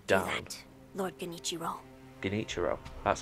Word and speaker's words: Genichiro: Genichiro. That's how his name's pronounced.